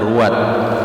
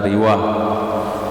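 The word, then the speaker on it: رواة: Nah, itu bacanya ruwat, jangan baca riwah. Ruwat jamak rawin.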